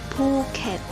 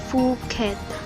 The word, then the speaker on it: Phuket: obvious example would be the island of phuket pronounced phuket rather than phuket as it would be pronounced in english furthermore there is no